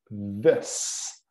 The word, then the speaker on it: this: Olha aqui o TH, como eu digo sempre, não é possível pronunciar o TH de forma correta sem colocar a língua nos dentes, sem tocar com a língua nos dentes da frente.